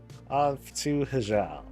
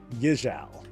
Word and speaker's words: Hyjal: All right, off to Hyjal. Oh, I'm sorry, Yijal. The H is silent, for those who don't know that.